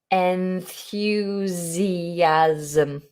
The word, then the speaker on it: enthusiasm: and and and fusion notice the s's pronounced like a zed enthusiasm enthusiasm hope that helps okay